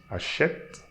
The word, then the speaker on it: achètent: So that ENT is a verb, this is a verb, so ENT I'm pronouncing E, and silent E we are not pronouncing, but we are pronouncing the consonant before.